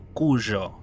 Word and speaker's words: Cujo: países de habla hispana con cujo o cuyo como se pronuncia en realidad vos sabes que esperar